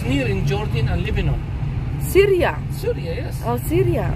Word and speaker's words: Syria: in jordan and lebanon syria syria yes oh syria oh you say surya surya this is the dutch people say syria it's like surya it's like it's a